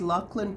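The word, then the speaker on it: Laughlan: I mean very original his name is Lan Peterson and llan is spelled l a u g h l a n and just to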